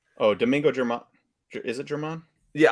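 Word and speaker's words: Germán: Is it German? Yeah, I heard them pronounce it like Herman, I think G silent.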